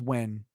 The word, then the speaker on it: Nguyen: It's pronounced when. Nguyen, it's when.